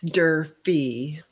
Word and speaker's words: Durfee: in coffee enemas i'm really excited to welcome durfree did i pronounce that properly it's derpy derpy derpy okay durfee welcome to